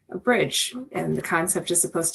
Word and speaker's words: BRDG: Like Joe said, my name is and I founded the firm Bridge, which is spelled BR O R DG but pronounced like a bridge and the concept is